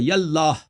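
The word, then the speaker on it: یا اللہ: تو یہ جب یا کہیں گے تو اس کے ساتھ یہ الف کے تلفظ نہیں ہوگا. یاللہ یاللہ. ہاں جو ہے وہ آپ کو اس پہ ابھی وقف بات کرنا کرو.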